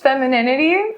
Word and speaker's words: femininity: is this feminine feminine it's pronounced femininity oh god